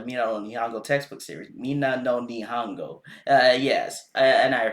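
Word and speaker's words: Minna no Nihongo: Mina no Nihongo. Yes, and I pronounced it correctly for you.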